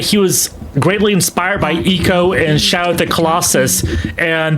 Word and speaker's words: Ico: Oh yeah, it's spelled ICO uh pronounced eco, but yeah, just three letters, ICO.